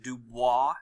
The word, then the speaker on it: Du Bois: left here you have W EB du Bois is how you say his name and on the right